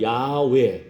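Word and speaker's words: 야훼: 왜냐면은 이게 이제 정확한 발음으로는 야외, 야회 이렇게 발음이 그 히브리어예요.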